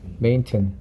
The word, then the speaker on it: maintain: 테인이라고 읽지 말고요. 튼이라고 읽으세요. 튼이야, 튼. maintain, curtain, mountain, Manhattan, button. 다 튼입니다, 튼. 혹은 흔. 흔이 제일 적합한 발음 같아요. 흔. 메인, 마운틴. 진짜야. 한 나중에 사전으로 들어봐. 그 외국인이 말하는 거 들어보면 다 흔이야. 흔.